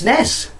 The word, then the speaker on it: NES: professional review or some people just prefer and pronounce it you know that way and you know um anyway uh it's it's it's Nez it's the same as a Super Nintendo you